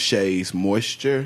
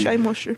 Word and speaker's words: Shea Moisture: One thing that just surprised me is one product that they mentioned was Shay's Moisture. Yeah, say it right. Shea Moisture.